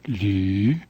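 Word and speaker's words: 呂: Here is the Chinese character for vertebrae, the bones of the spine, pronounced lu in Mandarin.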